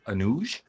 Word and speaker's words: Anuj: say I feel like everybody says Anuj is that the right way to say it he's like I don't care what how you pronounce my name how you want but I was like but is that the correct way he was like well no it is actually kind of how it's spelled it is Anuj I